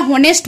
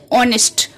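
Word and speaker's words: honest: অনেস্ট ম্যানের ক্ষেত্রে অনেস্ট ওয়ার্ডটা এইচ দিয়ে শুরু হলেও আমরা হনেস্ট বলি না, এটার প্রোনাউন্সিয়েশনটা হচ্ছে অনেস্ট, অনেস্ট।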